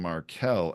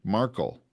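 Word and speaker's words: Markel: one of our podcasters name is Adam marel m a r ke L and it's often misread and people think marle and the voice over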